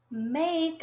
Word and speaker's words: make: But the E is silent, like it's not there.